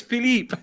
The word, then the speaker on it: Philippe: difficult to to pronounce it's Philippe oh it's Philippe it's Mr yeah